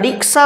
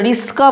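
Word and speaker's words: রিকশা: পরিবর্তন ঘটেছে তারপরেতে রিক্সা আর যারা রিক্সা বলছে তারা প্রথমে ক বলছে তারপর তারবস্য বলছে আর যারা উচ্চারণ বিকৃত করে রিস্কা বলছে তাদের উচ্চারণে আগে তার বস তারপরে ক হয়ে গেছে অর্থাৎ এখানেতে দুটো ধ্বনি পরস্পরের সঙ্গে স্থান পরিবর্তন ঘটেছে আগেরটা পরে পরেরটা আগে হয়ে গেছে আবার এই উচ্চারণ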